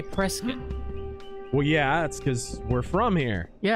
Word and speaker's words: Prescott: But I know you guys say Prescott, Mm-hmm. and other people outside of the You state, mean the rightful capital of Arizona, Prescott? and other people from the outside would say Prescott. Yeah. Other people, wrong people.